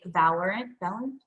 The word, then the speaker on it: Valorant: to compete in, which that is either A, Valorant, did I say it right?